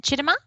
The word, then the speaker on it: Chidima: Question from Chidima. So is that how I pronounce your name? Yeah, thank you. That's the right pronunciation.